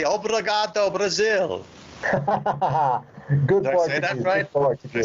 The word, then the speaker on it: Obrigado: I'm not there I'm not okay I'll say Obrigado Brazil good question did you say that right